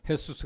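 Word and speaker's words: Jesús: 그래서 수스 하면 jus 쓰지만 이제 그 스로 발음하면 헤수스 그러잖아요 그래서 예수라는 이름이 많이 있습니다 예수는 구원자이시다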